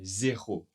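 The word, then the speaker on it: zéro: 0. Attention, le R n'est pas trop prononcé. 0.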